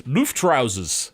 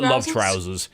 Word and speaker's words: Luftrausers: I think it's Luftrausers, I believe is the correct pronunciation for that. But I call it Love Trousers.